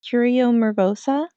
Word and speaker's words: Curio Mervosa: Your bookstore, I hope that I pronounce it right. Is it Curio Mervosa?